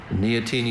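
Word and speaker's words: neoteny: Neotini is N E O T E N Y.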